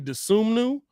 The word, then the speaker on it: Dosunmu: Okay, Ayo Dosunmu. Sue me. It's actually Dosunmu, but I can't say that while live calling it very well.